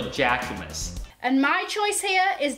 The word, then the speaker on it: Jacquemus: 那它的名字呢叫做 Jacquemus。 And my choice here is the Jacquemus Le Chiquito.